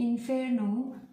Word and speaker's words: inferno: Seperti di inferno, inferno itu di simbol fonetik di huruf F di atasnya itu ada petiknya. Nah, itu dibaca ditekankan.